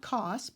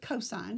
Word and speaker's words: cos: the second one is cosine of an angle is equal to an abbreviation is cos not cost but cosine you say the word even though it's an abbreviation is equal to the